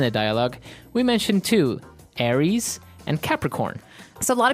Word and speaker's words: Aries: Greek mythology that's right and uh so it's pronounced Aries Aries a r i e s Aries that's